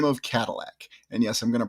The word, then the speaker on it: Cadillac: in 1701, a gentleman by the name of Cadillac. And yes, I'm going to pronounce it that way because that's how it's pronounced currently.